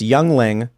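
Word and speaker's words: Yuengling: Ready to Rumble says it's pronounced youngling, as in a small person child.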